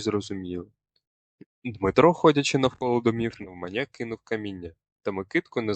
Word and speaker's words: навмання: Правильна вимова: наголосная я. Ніяких навмання або навмання, тільки навмання. Наголос не плаваючий.